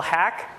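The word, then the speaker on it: Haack: My name is Hack. It's pronounced hack as in the type of code I write, which is why they let me be a program manager at Microsoft.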